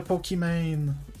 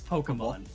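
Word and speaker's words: Pokémon: You have to get a Pokimane. Okay, how do you pronounce Pokemon? Because like I do Pokimane, just to appease of people. It's Pokemon.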